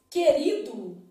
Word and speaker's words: querido: eu preciso avaliar ó na palavra querido é dígrafo porque o não é pronunciado querido a boca cheia querido beleza então